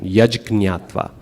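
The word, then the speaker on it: yajjñātvā: That first J in yaj is ja. There's no confusion. Yaj gnatva.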